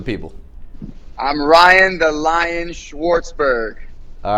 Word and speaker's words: Schwartzberg: pronounce your last name so can you please pronounce it for the people I'm Ryan the lion Schwartzberg all right cool cool so you're an amateur